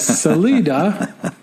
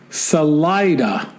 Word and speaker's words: Salida: and then he says salela is actually pronounced Salida not to be confused with